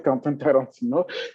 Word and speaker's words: Quentin Tarantino: Tout le monde connaît Quentin Tarantino, je vais prononcer en français, Quentin Tarantino, et il a annoncé qu'il vendait des NFT qui portent sur son fameux film-là, Pulp Fiction.